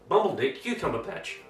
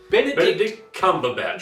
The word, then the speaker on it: Benedict Cumberbatch: Bumbledick Cucumber Patch. Butterscotch Comfortable Pants. Now we're going to turn to camera and say it right. Say his name right. Okay. Great. 1, 2, 3. Benedict Cumberbatch.